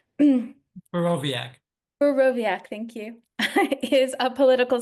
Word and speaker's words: Borowiak: Craig Bore how I'm I'm mispronouncing your last name. Boviaakoviaak thank you is a political scientist at Habberford.